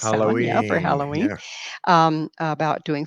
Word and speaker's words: Samhain: It's pronounced Samhain, yeah, for Halloween.